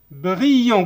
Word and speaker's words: brillant: Les yeux des oiseaux apparaissaient ما نقروهاش لانها لو فيرب مصرف مع il avec s ولا avec s entier c'est ne prononce pas. brillant قلنا ال ll se prononce i.